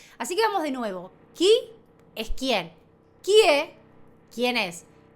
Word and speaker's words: chi: Chi se pronuncia qui y qui en italiano es quién.